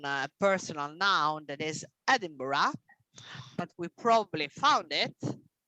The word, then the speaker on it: Edinburgh: a a noun a personal noun that is edinburgh but we probably found it edinburgh edinburgh edinburgh not for the americans of course